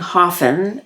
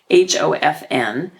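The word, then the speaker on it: Höfn: And so I bought, we went actually to a grocery store at the town where we were staying, Haafell, which we are not pronouncing the correct way, Hofn.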